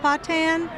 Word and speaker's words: Patton: It could also be pronounced Patan. Patton? Yeah. That's one of those Cajun things, Rockwell. I've heard it both ways.